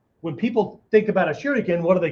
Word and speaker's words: shuriken: But there's three syllables to the word shuriken, right? Shuriken.